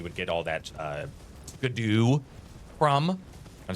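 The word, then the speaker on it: Scadu: where normally you would get all that uh scadoo from. Got to say it. Make sure I say it correctly. The scadoo. Yep. Absol absolutely the correct pronunciation.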